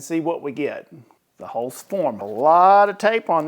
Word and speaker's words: Holzfforma: It's a Holzfforma.